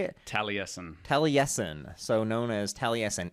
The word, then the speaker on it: Taliesin: Taliesin.